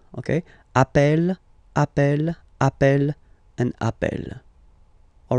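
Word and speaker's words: appelle: the pronunciation of uh you tend to pronounce it like e e really open that's the reason why you pronounce it Appel Appel okay Appel Appel Appel and Appel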